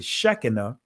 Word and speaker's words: Shekinah: shekinah uh in uh the israeli language is it will pronounce it shechena but i want to